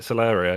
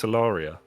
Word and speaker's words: Celaria: no i bought it i've never pronounced it celeria it's solaria waters of solari campaign